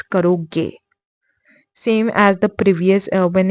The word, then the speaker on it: करोगे: Okay, remember it's not karoga for a boy, it's karoge.